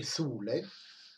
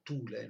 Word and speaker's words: Thule: Dunque, delle conoscenze di Atlantide e Thule, che tanti pronunceranno Thule, no? È greco e quindi TH si pronuncia S, come in inglese, cioè in inglese è più dolce, e in greco, quanto ne so, è il suono è più duro, Thule.